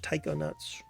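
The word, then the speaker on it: taikonaut: that's a cool name how do you say that though well they say it's English Taiko nuts Taiko nuts interesting this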